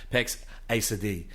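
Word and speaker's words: Pax Assadi: Pax Asadi, that's actually how you pronounce it.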